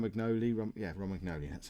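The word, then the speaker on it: Romagnoli: R mcnell is injured um R magnoli yeah ROM magnoli that's how you say it so we actually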